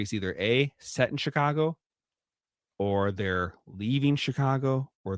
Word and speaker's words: Chicago: everyone always says, everyone always normally typically will say Chicago, but if you actually are a a resident of Chicago or you're from the area, people who live there, they actually pronounce it Chicago.